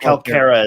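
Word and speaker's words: Kalkara: And that move consists of releasing the Calcara. Yeah, it's a weird. Calcara. Yeah, Calcara is how they pronounce it in the audio.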